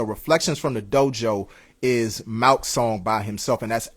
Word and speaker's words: Malc: But yeah, so definitely make sure that y'all check out that project from Malk, MALC, and Twice, just like it's spelled.